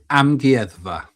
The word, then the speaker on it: Amgueddfa: Amgueddfa.